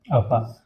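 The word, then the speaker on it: ಅವ್ವ: इसको हम कैसे प्रोनाउंस करेंगे, ऐसे, अव्वा। इसको हम, जो उर्दू का वर्ड होता है अव्वा, इससे कंफ्यूज नहीं होंगे।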